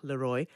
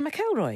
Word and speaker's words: Leroy: is the story of saffron M Leroy and I say that because all the way through the book people keep mispronouncing her name they say meloy meloy yeah anyway and um it's